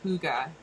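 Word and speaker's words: Hygge: The little book of, it says it's pronounced Huga, and that's another Danish secret thing, and then this is another, how did I say this was? Huga.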